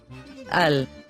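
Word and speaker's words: על: Here's a word that is spelled with the letter ayin and the letter lamed. al, al, is a preposition that can have many different usages.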